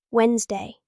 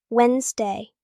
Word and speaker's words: Wednesday: Wednesday. Wednesday is the third day. Tricky pronunciation. Wednesday. The D is silent in spelling.